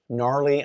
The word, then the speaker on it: gnarly: Gnarly, I needed to rhyme with Charlie.